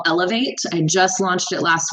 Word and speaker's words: Eloveate: So my podcast is called Elevate. I just launched it last week, and it's not spelled like elevate. It's spelled ELOVEATE with love in it.